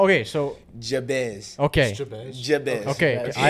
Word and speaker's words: Jabez: All right, y'all, because the announcer be saying his name wrong to us. How? Okay, so Jabez.